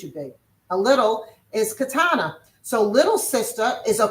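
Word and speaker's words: קטנה: A little is katana. So little sister is a koot katana.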